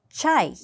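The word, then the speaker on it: чай: 자, 예를 들어서 차이. 차라는 단어인데요.이 최발음을 하실 때는이 아래턱을 조금 더 부지런히 움직이셔야 합니다라고 제가 꼭 설명을 드려요. 차 하지 말고 차이. 차이. 아래턱을 조금 더 부지런하게 움직인다라고 생각하시면 됩니다.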